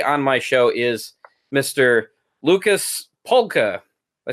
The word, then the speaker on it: Lukasz Palka: Lucas polka I say that right that's right okay I feel really you know I I feel bad if I mispronounce that no no I that's exactly right Lucas polka thank you hmm do you do a lot